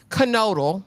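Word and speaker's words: Knodel: you as Aaron kodal I've been calling that man noal this whole time kodal is it is how they pronounced it this episode is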